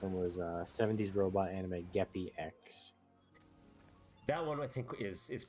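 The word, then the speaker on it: Geppy-X: And I also thought you said Get the X from the way you pronounced it, but it's Geppi X.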